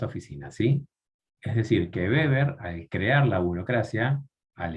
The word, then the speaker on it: Weber: Aclaro, Weber se escribe con W, Weber, pero es Weber, porque es alemán. ¿Sí? No se dice Weber.